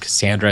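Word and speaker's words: Kaossandra: And I think when she's talking with Golden Queen, and she's like, yeah, it's just Cassandra. It's like a silent O or something like that.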